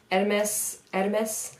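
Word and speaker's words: Hermès: From my understanding, the H is silent. Hermes, I don't know.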